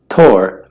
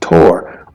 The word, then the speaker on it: Thor: his name is pronounced Tor ortur however in Old Norse his name did have a th sound the hammer wielding Tor